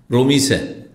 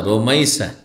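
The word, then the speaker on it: Rumaisa: খুব কমই লোক করে রোমিসা কি বলে রোমিসা না রোমাইসা কি বলবেন রোমাইসা যেমন আমার দেশে রোকিয়া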